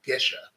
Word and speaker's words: Gesha: No, it's actually, there's actually a town in Ethiopia called Gesha, or I think that's how they pronounce it. So, but it's like geisha, but without the I. right? So just Gesha, Gesha.